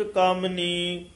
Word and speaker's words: कामिनी: पंच पंच तत् विस्थार कनिक कामनी जोग व्योहार। कामिनी इस तरह उच्चारण करना है। मम्मी दी सिहारी भी हैगी, थोड़ा जा कसके ये पद बोली दा हुंदा, कामन हो जाए कामिनी।